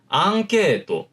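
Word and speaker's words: アンケート: 제가 처음에 발음했던 걸로 다시 한번 들어보세요. 앙케또 라는 식으로 발음을 했어요. 앙케 라는 식으로 발음을 했죠. 다시 말하면은 여러분들이 지금까지요 단순히 받침처럼 발음한다라고 느껴왔던 응 사이에도 높낮이가 다르도록 악센트가 생긴다는 거예요. 앙케또 라는 식으로 높낮이가 달라진다는 거죠.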